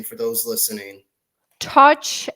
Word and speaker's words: Tatsch: name for those listening touch a scotch whether you drink it or not touch touch got it got it